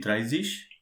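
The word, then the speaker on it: dreißig: this 20 will be zwanzis 30 will be drivish 40 will be fierce-ish firmswish and likewise if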